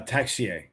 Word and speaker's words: Texier: out if if uh how do you pronounce his last name? Taya or uh uh Texier.